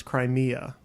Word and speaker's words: Crimea: had the word crime if you had a to the end it becomes Crimea which is three syllables is that it's a